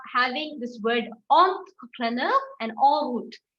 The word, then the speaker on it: en route: So in the next slide, we are having this word entrepreneur and en route. En is pronounced as o. O. We start pronouncing at o. Okay. So o, entrepreneur, en route.